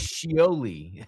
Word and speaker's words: Shioli: And it was maybe do Shioli or I might be saying her name wrong. Let me look. Um It's Shi- No, it's Shioli.